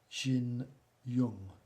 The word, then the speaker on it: Jin Yang: is a company called Jin Yang. That might be pronounced in China as Jin Yung, because they pronounce Y-A-N-G as Y-U-N-G. Yung is pronounced Jin Yung.